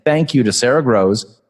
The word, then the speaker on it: Grosz: thank you to Sarah Grows spelled gr o s Z pronounced grows not gross because she's certainly not